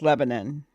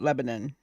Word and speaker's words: Lebanon: not from there either, and it's Lebanon. It's how they say it, Lebanon.